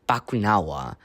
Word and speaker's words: Bakunawa: It's Bakunawa.